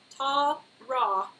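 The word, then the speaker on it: Tawra: a w r a it's tar ra but I say Tara oh oh wait got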